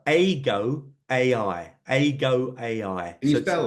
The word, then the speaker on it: Eigo: It's called AGO AI. AGO AI. Can you So spell that?